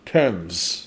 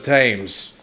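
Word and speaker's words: Thames: for about 215 miles we are looking at how to pronounce temps River TS T River the TS River Prett straightforward TS River TS oh man okay so I I guess it is that I thought it was tames goes to show you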